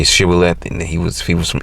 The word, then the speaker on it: shibboleth: If the man said, no, I'm not, they would tell him to say Shibboleth. If he was from Ephraim, he would say Sibboleth, because people from Ephraim cannot pronounce the word correctly.